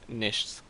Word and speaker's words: Niichts: going by star and my channel name is nish which is how you pronounce it's German if you remove one eye